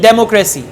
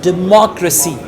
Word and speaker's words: democracy: say it again democracy right now she's saying democracy the right pronunciation is democracy demo accuracy right in the same way what